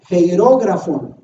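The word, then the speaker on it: χειρόγραφον: griega que ahí pongo, se pronuncia como hierógrafon.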